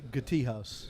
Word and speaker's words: Gatehouse: I believe it's pronounced Gati House.